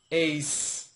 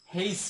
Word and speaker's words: H: Next letter রয়েছে এইচ, এই এইচটা অনেকে বলে এইস, স উচ্চারণ করে। হ্যাঁ, এটা আসলে স উচ্চারণ হবে না, এটা হবে এইচ, এইচ, এইস, কেমন? আচ্ছা, এখন এইস এর আরেকটা উচ্চারণ আমরা দেখতে পাই, সেটা হচ্ছে নেটিভ যারা রয়েছে ওরা অনেক সময় হেইস বলে। হ্যাঁ, এইস এবং হেইস নিয়ে অনেকটা কন্ট্রাডিকশন আমাদের সমাজে, আমাদের সোসাইটিতে রয়েছে।